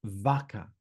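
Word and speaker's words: VACA: I call this framework vaka v a ca and it stands for vent, analyze, conclude and apply.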